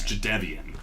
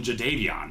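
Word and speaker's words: Jadeveon: that's who it was his name is javian okay but like he just let everybody call him jvon and now it's too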